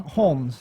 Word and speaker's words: Holmes: Holmes. Yeah. Holmes with the L?